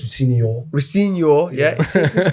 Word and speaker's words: Rosenior: It's not Rosenior, it's Rosenior.